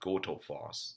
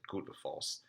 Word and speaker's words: Gullfoss: It's spelled Gullfoss, but the double L sound in Icelandic is actually a TL sound, but not the way we would say in the US. So it's not Goldfoss. It's more like how the Germans would say it.